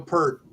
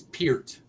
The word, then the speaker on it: Peart: The other thing I was thinking about was we were saying Neil Peart, and I got told it's Peart.